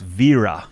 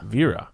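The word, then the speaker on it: Wera: ask Matt how to wear us wear or Vera how do you pronounce it it's Veera oh okay Vera yeah that's how they say it at the at the main at the German and when I talk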